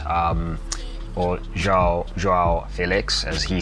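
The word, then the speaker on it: Félix: the game a lot of opportunities for Xiao Felix um or Felix as he says because a brand new we've been mispronouncing this man's name the ideal finish essentially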